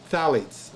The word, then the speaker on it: phthalates: starts with a p i did say the p which is silent phthalates okay are in everybody okay it's like philosophy okay phthalates it's a slight whizzing by the ph okay dr shaw was